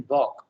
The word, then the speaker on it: balk: The L is silent in balk.